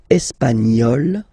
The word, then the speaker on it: espagnol: Feminine form, portugaise, you pronounce this z sound, okay? And then l'Espagne, espagnol, remember, espagnol, espagnol.